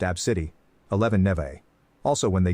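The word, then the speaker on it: Abcde: hoola from Hawaii 10 AB bcde e pronounced AB City 11 NE also when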